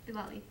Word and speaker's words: Diwali: Manpreet, since you have been, we're talking about the girls getting money and such, and I thought, now is it pronounced Diwali? Yes, Diwali.